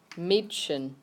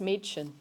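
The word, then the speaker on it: Mädchen: the actual word for girl yeah okay it's pronounced Meechan try that dust Meechan one more time das machen the dust part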